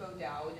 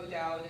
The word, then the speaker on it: O'Dowd: So I think potentially like some of the schools I'm thinking of are like Bishop O'Dowd in like Oakland and like Moreau and Hayward.